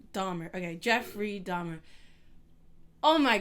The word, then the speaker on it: Dahmer: Is it Donner or Dahmer? Because you know I always say it wrong. Dahmer.